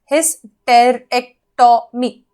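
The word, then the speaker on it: hysterectomy: इसको मैंने ऐसे तोड़ के लिखा है जैसे प्रोनाउंस कर सकते हैं, हिस्टेरेक्टोमी।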